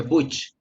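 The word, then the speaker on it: Booch: Así, bueno, así se pronuncia, ya se escribe Butch, pero se pronuncia Butch.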